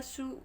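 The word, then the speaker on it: shoe: या कुछ ऐसे नहीं पढ़ते सु ए या श ई या सु ओ इस प्रकार का हम इसका उच्चारण नहीं करेंगे ये शुद्ध रूप से श लिखा है एस एच ओ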